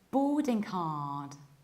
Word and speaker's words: boarding card: In British accents, we pronounce it like boarding card, boarding card. So what happens is that we prolong O and we skip middle R. Boarding, and there is no K at the end.